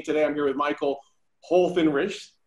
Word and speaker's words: Holthinrichs: I thought a lot about it before I thought of naming my brand after it, but it's Holthinrichs.